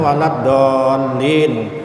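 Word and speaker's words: ولا الضالين: Jadi waladdall. Nah, itu kadang-kadang ditahan karena situ tasdid. Misalkan waladdallin.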